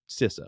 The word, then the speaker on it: CISA: like to say that I pronounce sisa correctly because I've talked with folks from sisa and it's not cisa it's sisa so for all your other